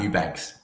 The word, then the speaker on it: Eubanks: Do you know how to pronounce that name there for me, Boz? Yeah, that's Eubanks.